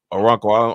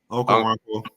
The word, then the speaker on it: Okonkwo: I'd say Sterling Dixon and Justin Okonkwo. I know I just said his name wrong. Okonkwo.